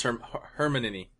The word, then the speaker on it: Hermione: Oh, I thought it was Hermione.